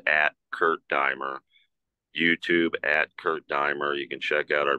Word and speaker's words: Kurt Diemer: Yeah, it's Kurt, K-U-R-T, and it's Diemer, D-E-I-M as in Mary, E-R, pronounced Kurt Diemer.